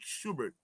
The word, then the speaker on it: Schubert: How do you pronounce it? Mark Schubert.